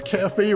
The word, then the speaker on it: Cafe: Oh, the author's name is Cafe, rhymes with strafe.